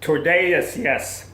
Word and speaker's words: Tordesillas: Tordesillas. Here's how it's spelled.